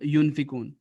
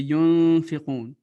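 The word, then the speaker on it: يُنفِقُونَ: Et ikhfa, ça veut dire que il doit avoir un son nasal. et vous devez plus prononcer. Par exemple, ça va être yunfiqun. C'est pas correct de dire yunfiqun. C'est yunfiqun, yunfiqun. Et les lettres, il faut que vous donc mémorisez.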